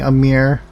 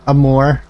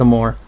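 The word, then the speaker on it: Amur: Skullwolf, I have it on PlayStation playing Amir. Amor. I always want to pronounce it Amir for some reason, but I know it's Amor.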